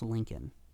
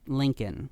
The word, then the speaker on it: Lincoln: spelled l e a k n and it's pronounced Lincoln lincol Park Lincoln I know but it's technically lean Park not